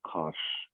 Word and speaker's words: cosh: So you get cosh, which is a hyperbolic cosine, or we pronounce it cosh. You kind of pronounce it how it looks pronounced.